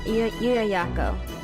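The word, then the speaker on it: Llullaillaco: Yuyayako.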